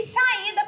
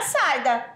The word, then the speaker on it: saída: não tá escrito saida tá até a pronúncia já muda se não colocar o assento fica saida Quando você vai pronunciar não encontrava a saída Olha onde carrega o i né então automaticamente vai o